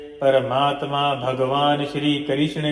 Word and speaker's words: कृष्ण: साक्षात कृष्णो प लभते अर्थात कृषण कृष्णा नहीं कृषण है क ऋषण